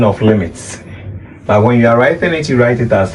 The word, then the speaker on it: lim: But this the full spelling of limits. But when you are writing it you write it as lame. Is that okay? But you don't pronounce it as lame but rather limit.